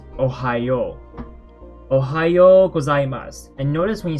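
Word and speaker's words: おはよう: hiragana what actually happens it's an extra o in pronunciation like we pronounce it it's not yo oh no one says oh it's ohio ohayo gozaimasu and notice when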